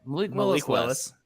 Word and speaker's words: Malik Willis: That's a Malik Willis list. Is that how you say it? Malik Willis.